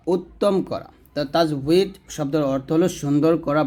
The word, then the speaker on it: তাজবিদ: তাজবিদ তাজবিদ তাজবিদ এরকম শেষ জানে আর কি উচ্চারণ হবে তাজবিদ তাজবিদ এটি বা এটা জুদ শব্দের মূল থেকে